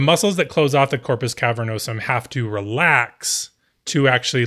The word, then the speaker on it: corpus cavernosum: knows him the muscles that close off the Corpus cavernosum have to relax to actually let in the